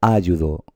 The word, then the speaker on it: ayudo: Vamos a ver, yo cuando la pronuncio en voz alta digo ayudo, o digo ayudo, o digo ayudó.